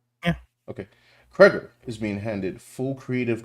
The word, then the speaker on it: Cregger: That's how you pronounce his name, right? Kger or Yeah. Okay. Kger is being handed full creative control to reimagine the property from the ground up.